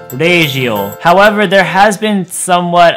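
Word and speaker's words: ラジオ: Similarly, the English word radio will be transformed into regio.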